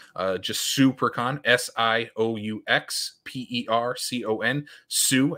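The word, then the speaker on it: Siouxpercon: just super con s-i-o-u-x-p-e-r-c-o-n Sue as in like Sioux Falls um per con that's how you can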